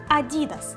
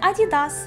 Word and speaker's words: Adidas: В Америці теж звучить інакше – Adidas, з наголосом на другий склад. Зате в Австралії це Adidas, як ми й звикли.